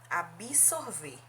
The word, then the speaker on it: absorver: tem que ela falou absorver agora a outra palavra paronima de absorver é ab-soul ver veja que a pronúncia diferente absorver eu tenho aspirou absolver veja aqui a pronúncia é diferente absolver quer dizer perdoar